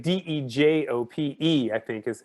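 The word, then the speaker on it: Dejope: So the closest thing we have is like soup du jour, right?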